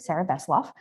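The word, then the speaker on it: Sarrah Vesselov: uh yeah so um got my name right pronunciation was perfect Sarah voff so you didn't mess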